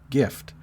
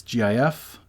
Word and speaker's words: GIF: word as a guide according to giffers the closest lexical neighbor to the acronym gif is the word gift because it's only off by one letter t that makes sense so to them it makes the most logical sense to pronounce gif like gift minus the t hence gif that all makes sense